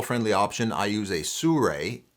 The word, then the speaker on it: Sirui: Now for a more landscape and travel friendly option, I use a Sure, it's pronounced Sure by the way, Traveler 7C, a great little tripod.